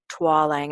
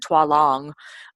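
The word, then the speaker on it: Tualang: how to get quality Twang and I think it's PR twong um and i' I've been been saying it wrong for a while but go on Amazon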